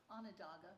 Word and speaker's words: Onondaga: I'm planning to go up to Salamanca and I forget how you pronounce it. This lady here mentioned it. How do you? Onondaga. Onondaga.